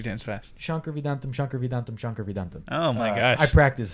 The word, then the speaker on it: Shankar Vedantam: That's how you pronounce it. Say it again. Shankar Vedantam. All right. Yeah, and so great podcast. And say it 3 times fast. Shankar Vedantam.